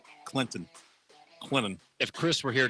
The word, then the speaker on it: Clinton: Got to teach him the proper way to say Clinton. I think he said Clinton.